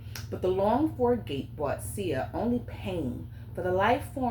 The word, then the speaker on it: Tsia: I think this name is pronounced Sia. It's spelled Tsia. I'm gonna say Sia.